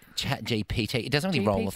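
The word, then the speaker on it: ChatGPT: time ever yeah yeah it's like chat gbt I can't say that properly it's ch GPT chat GPT it doesn't really roll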